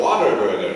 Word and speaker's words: Whataburger: Have you gone to get your Whataburger yet? No, No, it was called What a Burger. Because, you know, Americans say water burger.